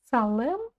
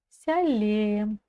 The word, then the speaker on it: сәлем: Салем мы не читаем. Сялем, сялем. Дальше идем.